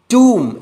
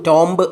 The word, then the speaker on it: tomb: TOMB, ടൂം എന്നാണ് ഉച്ചാരണം, ടൂം എന്നാണ്, ടോംബ് അല്ല.